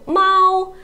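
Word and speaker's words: 猫: the difference is Mal no it is the first tone Mao and Mao is the second tone Mao Mao okay so can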